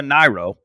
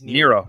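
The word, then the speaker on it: Nyro: and inherent of laura nairo which is obvious when you listen to his best stuff by the way nero not nairo nero okay yeah uh never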